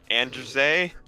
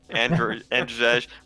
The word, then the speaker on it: Andrzej: It's Andrzej. Andrzej.